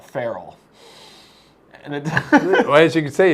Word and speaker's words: ferrule: I don't want to get off on a tangent here, but we spell it ferrule, but call it a wild animal, a feral.